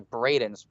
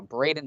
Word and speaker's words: Braden: Did I mispronounce that? I think it's Brandon. So Braden Swan, I'm sorry, is going to be leading Ronnie Irwin again in an S15.